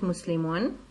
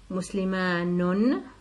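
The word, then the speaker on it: مُسْلِمٌ: So as for this example here, the first one is correct, Muslimun, but the other two are incorrect. Muslimanun, that's a doubling of a nunation, no need. It sounds strange when you pronounce it. And Muslimunun, also a doubling of a nunation, waw nun and then tanween, is not accepted in Arabic.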